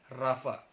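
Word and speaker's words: Ropha: R-O-P-H-A. Rofa. Tapi dibacanya Rafa.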